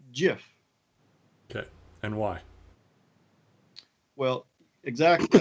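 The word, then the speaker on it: GIF: the pronunciation is what now? It's Jif.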